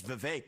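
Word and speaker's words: Vivek: If I say my name's Vive, it rhymes with cake.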